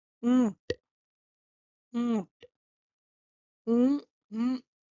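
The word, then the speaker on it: ऊँट: Then camel in Hindi is called oont. Oont. Mm, mm, This is a very slight n sound, which it's a nasal sound.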